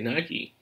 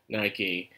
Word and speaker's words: Nike: Her name literally is Nike. Why? I can't help it. It's just the way it's spelled. You help but say Nike. And that's how you say it.